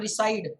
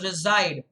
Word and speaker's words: reside: stay or to reside remember the s making the z sound we talked about it's not recide it's reside okay the next one